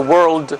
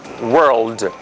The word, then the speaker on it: world: and we have the world sorry the word world this is a difficult word to pronounce and world has the L Sound here as opposed to the word word we have a difference